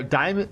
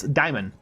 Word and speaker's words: daemon: Like how D-A-E-M-O-N is not daemon or diamond or demon, it's daimon.